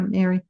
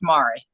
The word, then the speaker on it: Mari: Is it Mari or Mary? It is Mari.